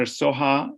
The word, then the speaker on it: Soha: Dr. Soha is S-O-H-A. It ends with an A. And I apologize for that, Mike Ellis, because you pronounce it the way it was written.